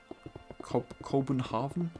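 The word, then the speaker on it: København: In uh Danish, Copenhagen is pronounced co Copenhav. Cobenhavven is that I always go into like a German accent when I try and pronounce Danish.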